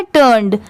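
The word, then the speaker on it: turned: अब इसमें देखिए TURN को हम लोग क्या पढ़ते हैं, टर्न, और ED लगने की वजह से क्या हो जाएगा, टर्न्ड, टर्न्ड। यहाँ पर उसकी प्रोनाउंसिएशन ऐसे चेंज होती है, TUR हो जाता है टर, और NED को नेड पढ़ लेते हैं तो क्या हो जाएगा, टर्न्ड, टर्न्ड, ठीक है। ऐसे भी पढ़ सकते हैं।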